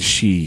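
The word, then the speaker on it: 四: Japanese for God and she is for also has a special connotation in Japan though it's considered an unlucky number because it's pronounced the same way as their word for death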